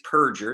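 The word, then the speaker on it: Raffensperger: named raffen's purger and his name really is perger it's mispronounced burger all time he removed 198 351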